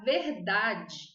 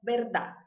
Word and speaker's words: verdad: Por exemplo, a palavra verdade, verdade, em espanhol é verdad, verdad. Ela escreve igual quase. A única diferença é que ela não tem a E final.